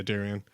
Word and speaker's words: Darien: Yeah, Darien.